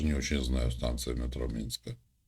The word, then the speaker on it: Минск: декабой А я в Минске был кстати говоря у вас правильно говорить на вашем языке менск Да я не знаю никто это не говорит мянск Минск и всё не ну я просто